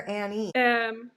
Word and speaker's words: Anne: And I forgot to ask you before we started, is it Anne or Annie? Both work. I go by both.